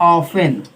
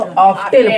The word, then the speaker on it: often: इसको बहुत लोग क्या पढ़ते हैं जानते हो, ऑफ्टेन पढ़ेंगे। क्या पढ़ेंगे, ऑफ्टेन। हम भी पढ़ते थे, लेकिन जब हमको पता चल गया कि टी साइलेंट होता है तो उसको ऑफन पढ़ते हैं, तो आप लोग भी ऑफ्टेन मत पढ़िएगा।